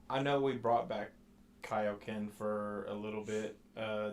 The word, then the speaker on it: Kaioken: because they were like it's not kokan it's Kaioken it's not spelled with an E it's spelled k-a-i-o right right well the